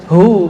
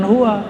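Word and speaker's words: هو: Allahu laaha u ya Hu bacanya hu jangan Hua kecuali disambung panjang enggak Hunya lailahaillahu pakai nafas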